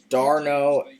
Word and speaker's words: d'Arnaud: 2015 I've never heard of him until now d'Arnaud dr no it's the right pronunciation dr no not dr no d attached